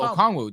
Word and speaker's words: Okongwu: No, Okongwu.